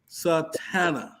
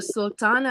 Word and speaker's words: Sultana: Name is Sister Satana. Sultana. That's my Did I daughter. pronounce that right? Assalamu alaikum. Wa alaikum assalam, sir. How are you? Good. Yeah, it's Sister Sultana.